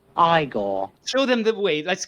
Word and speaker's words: Igor: Igor. No, it's pronounced Igor.